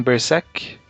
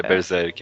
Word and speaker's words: Berserk: Guts do Guts em Bersek. Berserk. É Berserk, acho que pronuncia. Porque todo mundo fala berseker, mas não tem er no final não tem.